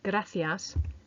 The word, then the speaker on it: gracias: and finally number four the missing tricky sound was the letter C which comes out a bit more like eighths for the word gracias meaning thank you and our bonus